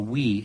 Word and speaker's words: Wii: by Nintendo called the Wii and yes that is spelled wi I but pronounced we you know up until